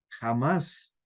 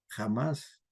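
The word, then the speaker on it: Hamás: Jamás, no con J, sino con H, pero lo pronuncian así. Jamás.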